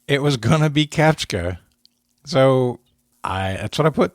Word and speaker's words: CAPTCHA: CAPTCHA. How Dave spelled it? CAPTCHA. CAPTCHA. Like capture. CAPTCHA. But Well, how did I say? Catchpa?